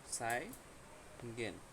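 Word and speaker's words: zeigen: এটা হচ্ছে সেট, হ্যাঁ, জেট উচ্চারণ করবেন না, এটা হচ্ছে সেট, স উচ্চারণ করবেন বা এস এর মতো উচ্চারণ করবেন। এটা হচ্ছে সাই, না? সাই গেন, সাই গেন অর্থ কি?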